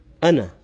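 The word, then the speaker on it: أَنَا: the end so instead of saying and you pronounce it is Anna that's why sometimes you'll have the ID for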